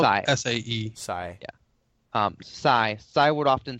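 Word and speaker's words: Sae: It's spelled Sai. S-A-E. Sai.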